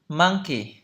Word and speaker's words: monkey: Đấy, nó phát âm như vậy. Từ đầu tiên, monkey, monkey, monkey, monkey, monkey, monkey, monkey.